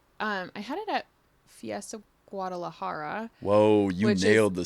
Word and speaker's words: Guadalajara: I had it at Fiesta Guadalajara. Whoa, you nailed the syllables there.